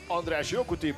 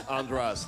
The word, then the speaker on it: Jokuti: The Hungarian pronunciation is András Jokuti, but you don't need to learn that. It's András. That's enough.